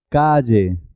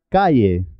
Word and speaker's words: calle: muy especial ella ella calle lluvia valle bella vaya muchas personas pronuncian calle como si fuera una y no es correcto es calle lluvia valle bella vaya